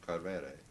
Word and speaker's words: Coelbren: at the port of Coelbren. That's the Welsh way of pronouncing it.